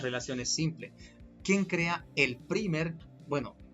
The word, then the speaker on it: primer: Obligatoriamente requiere de un pequeño segmento llamado el primer, bueno, en inglés es la palabra, tenemos que pronunciarlo primer, o también conocido como cebador.